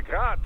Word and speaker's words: Grad: Technically, the UG's name is pronounced Grad, the Ukrainian way. But most in the business pronounce it as grad, Russian style.